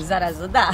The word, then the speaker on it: Sarasota: ¿Cómo lo pronuncias? Sarasota. Parece más italiano que inglés.